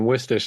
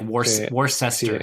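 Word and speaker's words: Worcester: I grew up in wiester which uh is the one like no Americans can say wsh yeah it's like w r c right w r c s yeah which looks like war war sester yeah exactly yeah but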